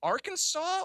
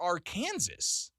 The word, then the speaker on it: Arkansas: of even, is it Arkansas or Arkansas? I don't know. I mean, it's spelled Arkansas, but we say Arkansas.